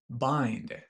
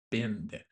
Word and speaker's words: bind: In a bind Note that the pronunciation—it’s 'bind' ,not “binned” rhyming with find or mind.